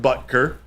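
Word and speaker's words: Boettger: is they did sign Ike Bucker and is pronounced buter um like Harrison buter but with a G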